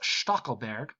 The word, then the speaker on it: Stackelberg: Kroll set us straight and said, it's a German name. He's a very German guy himself. That it's pronounced Stackelberg.